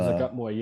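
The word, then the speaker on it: Zuggtmoy: forgot I keep forgetting mispronouncing her name. The Zagutmoy is the Zakutmoy, yeah, yeah.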